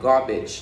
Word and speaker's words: garbage: Rồi thì ta có từ garbage, nó có hai chữ A. Chữ A đầu tiên là âm A, A dài. Và chữ A thứ hai là âm gì các bạn?